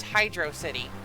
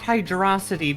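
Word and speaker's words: Hydrocity: Side note, it's Hydro City. It is not hydroity because they wouldn't they wouldn't break the pattern for exactly one letter.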